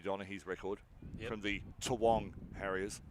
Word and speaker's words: Toowong: from the Toowong Harriers. It's not Kooyong. Toowong. It's taken me too long to figure out how to pronounce that properly.